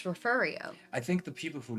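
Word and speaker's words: Refugio: And it's it's spelled like refugeio. Like if you were to if you were to like if you were to like phonetically sound it out, it looks like refugeio, but it's referio.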